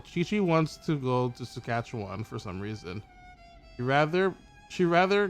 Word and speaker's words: Saskatchewan: Because she likes the name Saskatchewan. But then she says Saskatchewanda. Doesn't even say it right.